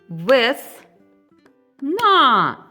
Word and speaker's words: весна: Давайте промовимо слово весна. На який склад падає наголос? Весна. На другий склад.